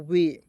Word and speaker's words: WAY: अब कहिएगा सर जी इसके अंत में वाई तो है, तो आप सर यहाँ पे इसका उच्चारण जो है वह और बड़ी के रूप में क्यों नहीं करेंगे, वी, तो इस तरह नहीं करेंगे दोस्तों, ठीक है।